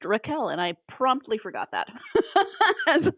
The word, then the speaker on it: Rachel: to Bach she says there's no CH sound in their language and so her name is actually pronounced Raquel I was like oh